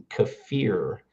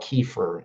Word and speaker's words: kefir: Kafir uh is the proper pronunciation from Eastern Europe. And we call it kefir in America, but kafir.